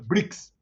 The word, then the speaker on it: BRICS: a sigla é uma Cromo é uma sigla pronunciado tem o hino meio que Facilite brix né o PEP Petrobras são siglas chamados pronunciáveis